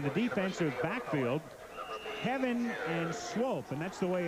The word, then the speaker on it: Swope: And in the defensive backfield, Heaven and Swope, and that's the way it's pronounced.